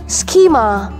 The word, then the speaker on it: schema: then scheme scheme and schema schema on stress point as a first syllable schema psychic psychic a